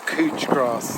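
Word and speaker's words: couch grass: a crow grass apparently this is cooch grass that's how you say it or couch i have to come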